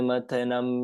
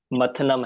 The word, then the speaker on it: मथनम: विरोध मंथन नहीं है, मथनम है। विरोध मथनम।